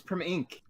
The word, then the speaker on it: Primink: It's Primink.